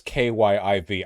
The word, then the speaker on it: Kyiv: is a russian word our capital is called kiev this is important i'm trying i know it's kyiv i'm trying i'm an english speaker you they're